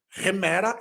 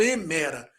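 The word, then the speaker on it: ἡμέρα: você vai descobrir posteriormente Por que eu pronunciei o Eta como re re remera e não emera com r na frente o nome disso é uma aspiração que você vai conhecer nas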